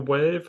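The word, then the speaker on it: Waeve: think it's the what I think it's the wave I feel like the E is silent yeah instead of weave right I've never been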